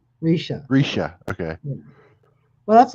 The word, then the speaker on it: Risha: Rishi? I'm not trying to be funny, Bone Dead. I'm not. I just can't pronounce it. It took me a while. Risha. It's Risha. Risha.